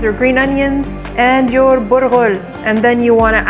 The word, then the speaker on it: burghul: It is the dainty of the dainties of bulgur, or cracked wheat, or as we actually call it, burghul. Not bulgur, burghul. You gotta roll your R's.